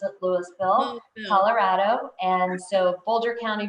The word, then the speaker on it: Louisville: and even though some people would pronounce it louisville we pronounce it louisville colorado and so boulder county broomfield county um